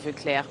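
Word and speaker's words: Voeckler: Like, for example, Thomas Veuclair, which is also a German name, which they pronounce in a French way.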